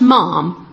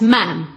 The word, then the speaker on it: ma'am: And the first one is that Princess Anne must be addressed not as mom but as ma'am. Brackets rhymes with ham.